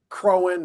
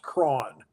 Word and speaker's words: Croghan: built uh Locust Grove okay people often say crowing or Croghan or you know it's pronounced all sorts of ways but it's it's apparently appropriately pronounced Kron crowd um but uh you know he was